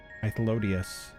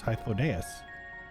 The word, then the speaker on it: Hythlodaeus: Hythlodius. No, it's Hythlodaeus. A before E. I'm Mad Wolf. Listen, unless they pronounce it in game, I'm sticking with Hythlodaeus. Hythlodius feels more easy to say, but I feel like it's Hythlodaeus. Like Asmodeus. Or Amadeus.